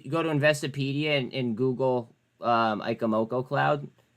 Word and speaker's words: Ichimoku: They're called Ikamoko clouds. You're talking about these ones, right, Booch? Like these clouds? And like that cloud? That cloud? Yeah, they're called Ikamoko clouds.